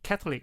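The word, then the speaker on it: Catholic: 캐톨릭. 어우 발음 너무 좋았네.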